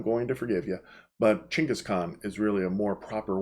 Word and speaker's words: Genghis Khan: Now, a lot of times you're going to hear him pronounced as Genghis Khan, and if you do that, I'm going to forgive you. But Genghis Khan is really a more proper way of pronouncing his name.